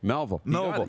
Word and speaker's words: Melville: Trevor Crosher says George and Sid Abel from Melville. Did I say that right? Melville. You nailed it.